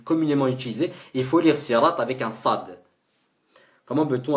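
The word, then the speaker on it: صراط: S'il vous plaît, si dans le Fatiha je prononce sad dans sirat. Oui, c'est validé, oui, il faut.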